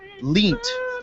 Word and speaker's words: Lient: This is called it's a Roman Reigns parody theme by a guy named Mike Leent, and his last name is spelled Lient, like lie with an NT at the end.